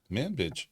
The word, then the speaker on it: Manbij: How would you pronounce it? Manbij. That's what I'm saying, yeah.